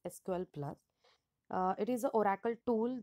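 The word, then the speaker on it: SQL*Plus: is sql plus so it is written as sql star plus and pronounced as sql plus it is an oracle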